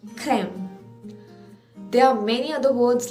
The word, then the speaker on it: crème: So when it is put to the vowel E, it gives us the sound of A, widely open mouth. In first one it was A, in this it is A, widely open, A. So for instance, in the word like crème, C-R-E, accent grave, M-E, crème.